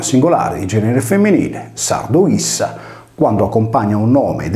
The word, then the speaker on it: ipsa: Facendo il dovuto parallelo, nella voce latina ipsa, la lettera P è il raddoppiamento della successiva S, per cui il termine si legge issa come il pronome di